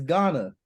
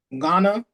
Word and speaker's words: Ghana: It's Ghana. Ghana. Yeah, the H is silent, my boy.